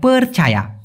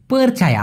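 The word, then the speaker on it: percaya: মুখে উচ্চারণ করেন তো পরছায়া অনেকে বলে পীর ছায়া পরছায়া না এটা হবে পরছায়া পরছায়া ওকে আমার বিশ্বাস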